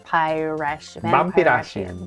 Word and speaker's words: Vampirasian: So it's like wins. Vampira and Kardashian. Vampirasian.